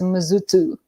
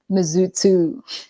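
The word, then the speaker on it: Mzuzu: spelt m-z-u-z-u m-z-u-z-u some zuzu but it's actually pronounced as muzutu mizutu like that was so cool mizutu so from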